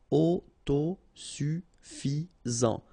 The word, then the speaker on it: autosuffisant: final ruine sacré accent aigu at the end est sacré autosuffisant final not pronounced autosuffisant autosuffisant sensé final e accent